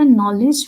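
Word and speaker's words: knowledge: That is बेटा नॉलेज में के साइलेंट आता है. King, we already gave the example of king. नॉलेज में के साइलेंट है, ठीक है. सो ये एन से स्टार्ट होता है.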